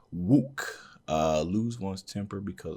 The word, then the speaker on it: 욱: additional stuff here sorry this character is pronounced wook uh lose one's temper